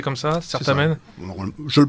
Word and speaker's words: Certamen: Vous prononcez comme ça, Certamen? Je le prononce comme ça. Enfin, Thierry dit on va dire Cartamen. On va dire Cartamen, mais la prononciation scolaire française et la prononciation ecclésiastique.